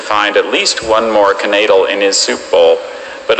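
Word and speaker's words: knaidel: Max hoped to find at least one more canadal in his soup bowl, but all he discovered was his missing lower denture. Canadal. Are there any alternate pronunciations? There's just canadal and knadal.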